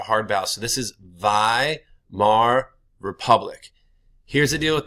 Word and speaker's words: Weimar: they are called the Vai mar republic this is not Weimar in German this gets pronounced like a V and when you ever